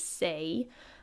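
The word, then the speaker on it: 星: So this is the kanji for star pronounced as sei.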